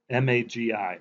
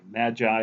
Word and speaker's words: MAGI: a lot to swallow there's this thing called mag AI Magi is what some people pronounce and not to be